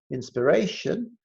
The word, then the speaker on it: inspiration: SPI to underline SPI inspiration the stress syllable is the Ray so underline are a